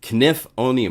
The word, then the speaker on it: Knifonium: If you want information on Knifonium, actually it's Knifonium. I gotta say it right. I said it Knifonium for a long time, and then I found out it's Knifonium with a K.